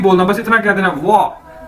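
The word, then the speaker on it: 我: ठीक है, WO Chinese का वर्ड है और इसकी प्रोनाउंसिएशन है वाह। तो अगर आप ये वाह आपने किस तरह से बोलना है, जिस तरह से आप बोलते हैं वाओ, आप कहते हैं ना वाओ, तो इसी तरह आपने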